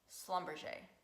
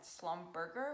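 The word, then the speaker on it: Schlumberger: never heard of them before slumber Shea never heard of them before I probably said slum burger which is what everyone else does and I always have to crack them like no that's not how you say it and I went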